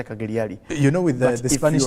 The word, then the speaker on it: Cagliari: Then Juventus is Cagliari, not Cagliari, but Cagliari. The G is silent.